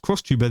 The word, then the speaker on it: XTuber: Rima's talked about it as well, saying Japanese VTuber agency Pandora has trademarked XTuber as a new term for a so-called next generation style of VTuber. Pronounced crosstuber, the idea is to have creators active both